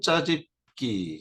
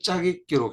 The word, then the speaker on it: 짜깁기: 자, 단순 짜집기, 이제 짜집기라는 표현을 쓰면 안 되겠죠. 이제 발음 표현은 짜깁기입니다. 이전에도 제가 설명을 드린 바 있는데 아무튼 짜깁기로 계속 표현을 할게요.